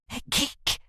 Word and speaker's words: hygge: Hygge, pronounced roughly hygge, is one of the most beloved ideas in Denmark.